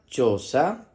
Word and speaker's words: choza: que está por aquí, se escribe con C, H y O, que suena cho. En este caso, la letra H no es muda porque tiene la letra C delante. Va a sonar cho.